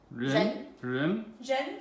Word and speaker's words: 人: Ren basically is the 2nd tone.